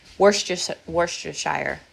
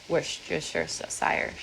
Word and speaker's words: Worcestershire: Worcestershire. How do you say it? Worcestershire sauce?